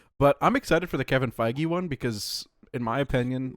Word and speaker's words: Kevin Feige: no, Kevin Feige is how you pronounce his name.